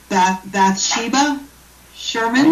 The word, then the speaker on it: Bathsheba Sherman: by, I know I'm going to get this name wrong, Bathsheba Sherman.